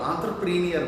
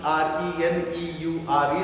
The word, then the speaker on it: entrepreneur: what actually this word entrepreneur means. Many of our students and friends pronounce this as an entrepreneur, though it is accepted in general way, but the very correct pronunciation of entrepreneur is entrepreneur.